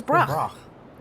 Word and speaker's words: Brock: Say it like what? Like broccoli.